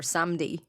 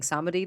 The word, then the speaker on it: Samedi: or Baron Samedi or Samdi, as practitioners seem to call him. Emily and I were talking about this before. I was saying I've been saying Samedi this whole time. Yeah. So that's how I pronounced it too.